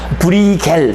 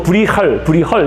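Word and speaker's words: Bruegel: 그래서 브리겔 또는 뭐 브리헐 이게 네덜란드식 발음은 브리헐이 맞고 여기 뭐라고 되어 있습니까? 불에 헬로 돼 있구나. 브리헐이 맞다 그러네. 브리헐. 그래서 어쨌든 네덜란드는 발음이 약간 다릅니다. 이 브리겔은 약간 독일식 발음인 거고요. 독일식 발음 브리겔.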